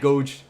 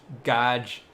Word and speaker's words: gauge: Not gouge, gauge. Like game, but gauge.